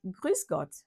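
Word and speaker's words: Grüß Gott: salutation que je vais vous apprendre aussi c'est grusgot grusg grusg c'est tout simplement la formule traditionnelle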